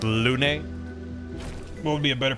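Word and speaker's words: Lune: It's pronounced Lun.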